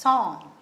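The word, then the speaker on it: sans: we go ahead uh the next word is s-a-n-s song this is the seventh one s a n s this is also a french word lot of words we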